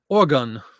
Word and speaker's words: Oregon: as much as it says Oregon like an organ donor that's what we were